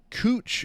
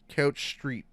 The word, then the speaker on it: Couch Street: We have a street here in Portland called Cooch Street. Why is it already funny? But it's spelled couch.